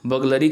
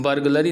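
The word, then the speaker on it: burglary: चोरी का मामला है, बगलरी का मामला है। बगलरी का मतलब ये होता है बर्गलरी नहीं, इसको पढ़ेंगे, are will not be pronounce, बगलरी।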